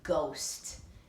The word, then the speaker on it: ghost: how about the word ghost this is a tricky part it has a g h in the front isn't that silly and then we have